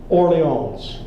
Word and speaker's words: Orleans: Little Oriole, that's an ear rhyme for Little Orleans, the correct pronunciation of Orleans.